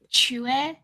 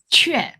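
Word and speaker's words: 雀: And in Chinese, if you really want to say it right, but obviously, like, I'm not going to hold you guys to that. It's chue, but you really have to like say it exactly like that, like chue.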